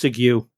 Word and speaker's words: segue: Well, I think on that note, without a pithy segue, because I just I believe it's pronounced Sigu.